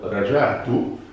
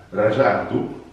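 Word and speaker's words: رجعت: Ora attenzione però, dicendo rajatu, si sposta l'accento sulla seconda A. Rajatu significa sono tornato.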